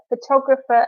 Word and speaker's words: photographer: receptionist, designer, police officer, photographer, and nurse. And don't forget about the silent G in the word designer and the F sound that PH makes in British English and American English, all English.